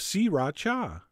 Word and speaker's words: sriracha: the same amount of si racha which is how I've been told to pronounce it three distinct syllables SI racha although you know what that sounds kind of weird I'm going back to sriracha and then besides the